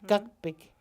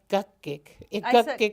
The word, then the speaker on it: gukbik: Gukbik. Not gukgik. I said gukbik. Yeah, gukgik is a snot. Oh, I didn't say. If you say gukbik, it's a needle case.